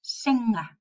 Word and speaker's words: singer: we have to pronounce singer. We don't have to pronounce the g.